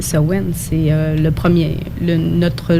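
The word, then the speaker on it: Samhain: matin désolé mais nous on appelle ça sohwin ou sa main certains prononcent comme ils s'écrit en fait la vraie prononciation c'est sowen c'est le premier le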